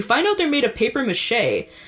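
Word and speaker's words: papier-mâché: out they're made of paper mache, or how they say papier mâché. It's kind of cute how they say it.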